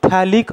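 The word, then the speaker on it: phthalic: अडचण काय तुम्हाला फक्त थॅलिक अनहायड्राइड ची गाणी आणि स्ट्रक्चर काढता आलं पाहिजे हे बनवतात कसं ते पण सांगेन मी तुम्हाला थॅलिकची स्पेलिंग पीएच पासून असते पी सायलेंट असतं है ना लक्षात आलं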